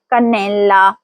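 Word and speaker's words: cannella: اگلا لفظ ہے کنیلا, اس کا مطلب ہے دار چینی. یہاں شروع میں کا ہے اس لیے پہلی آواز کے کی ہوگی. تلفظ ہوگا کنیلا.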